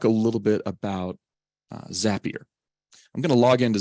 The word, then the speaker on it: Zapier: Uh what I'm going to do is go to uh the Zapier website. Zapier, it's easy to remember. It rhymes with happier.